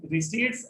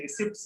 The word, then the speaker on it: receipts: Estimated रिसीट्स and expenditure, रिसीट होता है, रिसिप्ट्स नहीं होता है, रिसीट होता है, पी is silent, P is silent, हो सके।